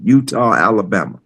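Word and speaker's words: Eutaw: Chickaw was near near another town called Utah, Alabama. Spelled with a e-u t a w. Utah.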